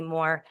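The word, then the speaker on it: Meaux: at the moment because her name is spelled M E A UX. Um and I just know her as Miss Mo and I'm thinking M O.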